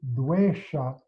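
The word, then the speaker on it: dveṣa: So you'll notice when I pronounce this dvesha, it's like the tongue is curled back toward the back of the mouth, but the tip of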